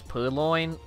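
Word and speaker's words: Purrloin: Like, I understand, like, it's Purloin. Purloin. It's loin, right?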